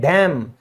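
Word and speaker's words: damn: लानत भेजते हैं ना किसी पर, भाई तुझ पे लानत है, तो उसको कहते हैं डैम, यहां पे भी क्या है? एन साइलेंट है।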